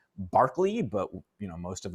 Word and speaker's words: Berkeley: talk about um well i guess it's pronounced barkley but you know most of us pronounce in berkeley okay another british empiricist